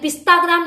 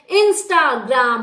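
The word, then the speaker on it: Instagram: इंस्टाग्राम, ये जो इंस्टाग्राम जिसका पूरे दिन का काम है इंस्टाग्राम पे है, अरे पिस्ताग्राम नहीं होता है भाई, इंस्टाग्राम होता है, इंस्टाग्राम। और सब्सक्राइब बोलना सीखो, प्रोनाउंसिएशन को ना थोड़ा सही करो यार, दिल्ली जैसे शहर में रहते हो।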